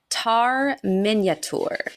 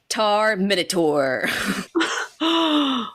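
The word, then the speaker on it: Tar-Minyatur: see it okay so his name is tar Minature tar meaning King Mina meaning first and tour meaning master or Lord so he's the first king master Lord cool but because it's spelled the way it's spelled every single time I see it I think it says tar minur awesome so that has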